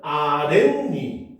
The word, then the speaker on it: 아랫니: 자, 사이시옷이 니은으로 발음되는 추가적인 예로는 아랫니 혼잣만을 발들 수가 있겠군. 맞습니까? 틀립니까? 여기도 보면 아렌이 그렇죠. 그다음에 혼잔말 이렇게 발음되잖아요.